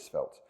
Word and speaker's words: Svelte: from DuckDuckGo um so apparently the origin of the word was uh French so much like white